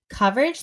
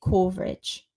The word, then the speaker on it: coverage: is a lot of the words where we use the vowel, as in cup, are spelled with an O, which is a nightmare. For example, government, they'll say government, or coverage, they say coverage. Oh, yeah. Because it's an O, so you would expect either ah or O, but it's actually It's so confusing.